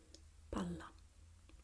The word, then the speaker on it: palla: So we have, when we have the double consonant, the vowel that precedes the special combination is shorter, is sharper. Palla, palla. You see, you hear a very short vowel, palla. While when we have the single consonant, we tend to have the vowel preceding it a bit longer, pala, pala, palla, pala.